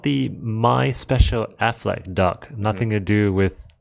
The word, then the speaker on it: Aflac: It's called the My Special Affleck duck. Nothing to do with Batfleck. It's spelled AFLAC.